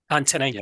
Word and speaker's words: Antonine: Antonine, yeah.